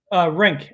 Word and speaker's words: Renck: is it Renck? Is that right? Renck, as if it were R-I-N-K. Renck.